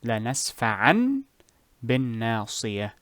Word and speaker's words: لَنَسْفَعًا بِالنَّاصِيَةِ: So this is how you normally will read these two words. لَنَسْفَعًا بِالنَّاصِيَةِ. لَنَسْفَعًا tanween بالناصية. However, in this example, or rather when you are reading Quran, you will say لنسفعان بالناصية.